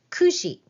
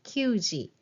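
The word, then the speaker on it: 九時: and then 8:00 is 9:00 is Kushi okay it's not Ki so be careful 9:00 Ki 10:00 ju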